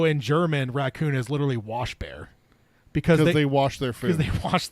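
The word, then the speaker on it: Waschbär: Which It's literally pronounced like it's wash bear. WACHBA with the 2 dots over it R. Washbar. Yeah, Washbar. So it sounds like Swedish are the same way because shield toad.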